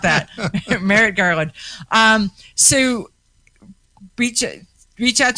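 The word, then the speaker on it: Merrick Garland: that garrett that um i can't ever say his name the the letter about the atf merritt garland is that it yep yeah okay because i always want to call him gar gar garrett marlin and it's not that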